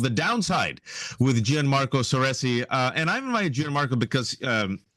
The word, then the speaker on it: Gianmarco Soresi: Gianmarco Soresi. Did I pronounce that properly?